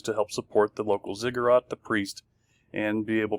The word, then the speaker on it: ziggurat: these cities had one of these inside it's pronounced as ziggurat it's a temple so each city had a